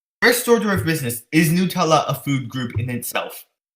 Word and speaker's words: Nutella: a cream I'm soon like that it's officially pronounced Nutella it just bothers me yep if you're stressin